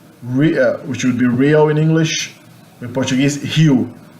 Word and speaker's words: Rio: Okay, the letter R in the beginning of a word in Portuguese is pronounced like an H in English, Rio, and the letter